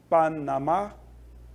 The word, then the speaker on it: Panamá: temos oed que apareceu com acento né o Panamá onde estava o assento no mar a última sílaba abeto não tem acento Mas é claro